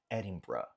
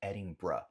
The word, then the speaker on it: Edinburgh: Nota que sim, se vai ter esse R, o som no final é como se fosse um B-R-A, ou um B-R-U, no sentido de schwa, né? No som de schwa no inglês. Edinburgh.